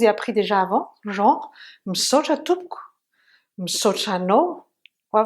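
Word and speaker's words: misaotra: fois que vraiment, merci, ça s'écrit et ça se dit msoch, misoch ou msoch. Vous vous souvenez, AO, ça peut de temps en temps être un O. D'accord? Msoch. Merci, c'est msoch. Ou msoch. Misoch. M-I. Et le ch, vous vous souvenez aussi, comme try. Hein? On le prononce, mais vraiment très doucement, dernière syllabe.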